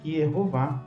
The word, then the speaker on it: יְהֹוָה: Alguns dizem que o nome é impronunciável, mas na verdade é de conhecimento de quem estuda o hebraico, bíblico, massorético, que está preservada a pronúncia Yehová claramente.